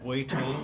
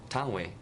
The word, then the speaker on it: Tang Wei: This is Wei Tang, is that how I say her name? Tang Wei. Tang Wei.